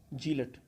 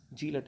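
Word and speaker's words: zealot: Next word है जीलट। जीलट होता है, जीलट इसका सही होता है, सही प्रोनाउंसिएशन इसका जेलट।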